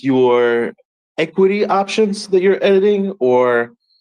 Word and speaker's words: Ecwid: Jumping in real quick, Alisher, when you says equity, it's spelled ECWID. The link is in the purple bubble. I know it sounds weird, but that's what he's saying. It's not equity, EQUITY.